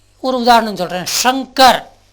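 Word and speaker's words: शंकर: ஒரு உதாரணம் சொல்கிறேன், ஷங்கர். நீங்கள் ஷங்கர்னு தான் சொல்லணும் மொழியை, சங்கர் சொல்லக்கூடாது, சக்கரன்னு சொல்லலாம்.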